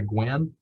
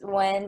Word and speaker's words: Wynn: I'll say Gwen. It's Wynn, but it's fine.